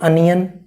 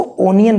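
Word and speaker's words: onion: ठीक, तो ऐसे और भी एग्जांपल्स हैं लाइक अनियन। अब कुछ बच्चे इसको ओनियन पढ़ेंगे, तो बेटा एक बात ध्यान रखिएगा, अगर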